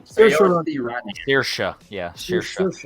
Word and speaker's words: Saoirse: Yeah, Saoirse. Saoirse. It's like Porsche, Saoirse. but Saoirse.